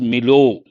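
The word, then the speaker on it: milieu: in the real sense milu mil milu you can say it means all the different factors that go with you can also pronounce as Milo Milo that is also possible all the factors physical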